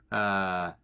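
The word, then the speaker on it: Évike: There was some, I think there was this one inner monologue or inner, like, thought written from Ivike.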